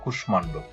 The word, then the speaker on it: কুষ্মাণ্ড: যেমন কুষ্মাণ্ড, এখানে মূর্ধন্য স্বরের সাথে মটা আছে, এই মটা উচ্চারণ হয়েছে কুষ্মাণ্ড।